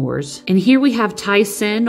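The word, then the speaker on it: Thi-Sen: and here we have tyson or thiasin i always call him tyson just by the way his name is spelled but he's a talls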